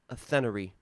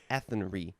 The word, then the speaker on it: Athenry: Athenery. Athenry.